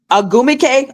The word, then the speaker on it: Ogwumike: Ogwumike. Okay. Sorry about that. I've been trying to pronounce that name for 7 years, and I still can't do.